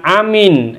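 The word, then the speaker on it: آمين: Jadi kesimpulannya untuk bacaan Amin yang paling baik dan yang paling benar adalah lafadz atau bacaan yang pertama ini yaitu hamzahnya dipanjangkan mimnya dipanjangkan tidak ada tasjid atau siddahnya dengan bacaan amin amin yang artinya kabulkanlah mudah-mudahan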